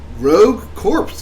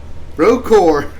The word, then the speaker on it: Rogue Corps: We also have Contra, Rogue Corpse for PlayStation, Xbox, Switch, and PC. Rogue Core. Corpse. Core. Corpse. There's a P. Yeah, you don't pronounce it. Rogue Core.